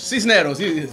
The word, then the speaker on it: Sisneros: So did I pronounce that right? Cisneros. Cisneros.